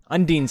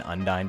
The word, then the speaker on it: Undine: you got a power undyne undine undeen's how you say it everybody's saying undyne the